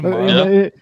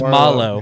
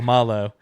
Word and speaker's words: Marlowe: Wait, his name's Marlowe. In the narrator, that's how the narrator pronounces it. And I was like, "There's no way that like his name is supposed to be pronounced It's Malo. Malo. Yeah, it's yeah. Okay. I didn't think about that. I just think the narrator got it wrong in the audiobook part of it.